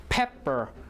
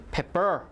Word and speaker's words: pepper: syllable what about pepper you have two peas actually you have how do you say it pepper or pepper pepper right so stress is on the first syllable okay and then space